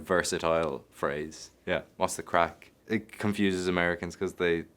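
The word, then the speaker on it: craic: Having the crack, spelled C-R-A-C-K. No, not Irish. Not Irish. It's spelled C-R-A-I-C, incredibly Irish.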